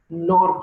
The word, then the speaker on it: NOR: These two are called universal gates, NAND gate and NOR gate. It is pronounced as NAND and NOR.